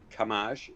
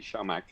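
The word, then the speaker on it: Camaj: uh sean uh uh camash um it's actually shamak his pronunciation but anyway not a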